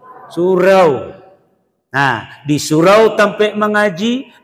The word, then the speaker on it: surau: itu namanya Sur apa namanya surra SY wau ro I Sur ah orang awak membacanya su Surau nah di Surau tampai